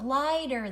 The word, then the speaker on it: lighter: Do you see GH, GH? It means long I, GH. GH, it means long I. So it's weight, heavier, or lighter. No, it's not lighter. Oh, lighter. The GH is silent.